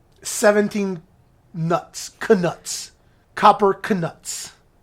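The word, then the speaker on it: Knuts: down into like 17 nuts Canucks copper Canucks like we just throw a silent K in there because it's Wizarding and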